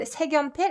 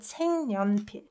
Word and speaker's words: 색연필: And this isn't read 색연필, it's read 색연필.